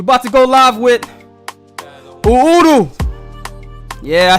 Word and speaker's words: Uhuru: checking in we're about to go live with udu yeah i said it right yo it means